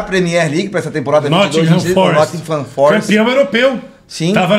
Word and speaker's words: Nottingham: Não, a pronúncia correta é Nottingham. Tem a linguinha aqui.